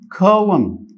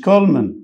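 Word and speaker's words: column: عمود برضو كولوم مش كولمن، عمود كولوم الان هنا سايلنت، فخلي بالك جدا من الملاحظات اللغويه اللي موجوده عندي.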